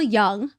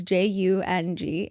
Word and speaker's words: Jung: to mention one thing Carl Young the way American spell it is j u n g and it just kills me cuz you would think it would be pronounced Jung but American am an